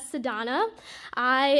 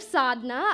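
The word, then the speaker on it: Sadhna: teacher called Ro and pronounced my name as sadon I instead of sadna I raised my hand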